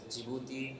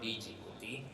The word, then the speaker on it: Djibouti: it the jouti so the pronunciation is jibuti and not Djibouti so that is the